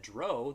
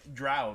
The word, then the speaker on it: drow: And so when my friend said Dro, that's what I knew it as, and so I blame my friend. Reed, if you're watching, I blame you. I'm trying to remember drow. That's how I've always said it. Yeah. So, but yeah, for years, and then I was very adamant that it was Dro for the longest time. Finally, I acquiesced and was like, okay, it's Drow because Bob said it.